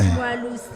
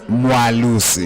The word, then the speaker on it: Mwelase: Mwalusi. Mwalusi. It's like Mwa. Aware.